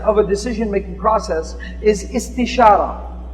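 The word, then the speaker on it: استشارة: The second step of a decision-making process is istishara. It sounds kind of like it rhymes with istikhara.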